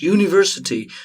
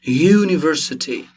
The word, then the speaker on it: university: because if you pronounce university university all right you see that we pronounce it with consonant at the front university it's not u